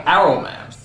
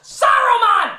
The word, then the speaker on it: Saruman: is for some reason they stopped pronouncing the S and simply call him Arrowman. Why? Is the S suddenly a bad word? Only because Aruman is kind. It should have been his friend Aruman. How long since Aruman? Saruman, you idiot! It's pronounced Saruman! The S isn't silent!